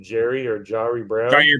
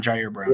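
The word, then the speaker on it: Ji'Ayir Brown: This is probably a wild statement, but if Gibson gets beat out by I think you pronounce it Jari Brown. Jair Brown.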